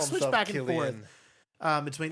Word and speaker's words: Cillian: It's Cillian, but everybody pronounced it different.